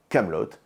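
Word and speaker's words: Kaamelott: ce qui s'appelle désormais camelotte avec 2A pour Alexandre Astier et de thé pour être bien sûr qu'on prononce bien le truc correctement et CT lui commande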